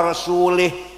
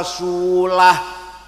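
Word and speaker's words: وَرَسُولُهُ: Wa annallaha bari'um minal musyrikin wa rasulih. Allah tidak melindungi orang musyrik dan tidak melindungi Rasulullah. Salah. Bacanya harus wa annallaha bari'um minal musyrikin wa rasulah. Wa rasulah dan wa rasulih.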